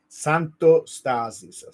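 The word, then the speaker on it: Santostasi: to pronounce by way it's pronounced Santo stasis so it's like you break it into Santo and then stazi and we like in Italian we like to put the accent in the semi last syllable so the emphasis is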